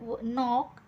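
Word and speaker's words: knee: एन ओ डब्ल्यू नो नो मध्ये सुद्धा के चा उच्चार होत नाही नी नी मध्ये सुद्धा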